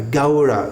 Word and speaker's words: Gaura: Brenda Gora Gora this sound au is pronounced something like the sound in how h o w how Dora Dora then